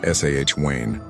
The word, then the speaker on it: Samhain: If Beltaine was a festival of life and fire, Samhine, pronounced Sah Wayne, was its shadowy twin, a festival of endings, beginnings, and the uncanny.